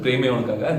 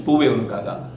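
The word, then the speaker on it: Poove Unakkaga: I might have mispronounced in the earlier version, Preme Unakaga. It's Poove Unakaga.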